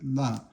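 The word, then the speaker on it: 啦: for surprise here, and it has la here, but you just pronounce it la, neutral tone.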